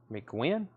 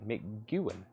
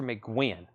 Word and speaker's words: McGuinn: spelled McGuinn or McEwen oh it's like mcguin that's how you say it Roger McGuinn there you have it those were nobody was